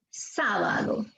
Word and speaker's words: sábado: Sábado. La fuerza de voz está en... Sa. Está en la sílaba sa.